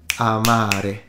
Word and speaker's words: amare: me say it again can you tell which one of these two is the long vowel ah ah Amari so the second R is significantly longer than the first one the first one being ah the second one being ah of course don't exaggerate it don't go into Amare that's too much but now usually in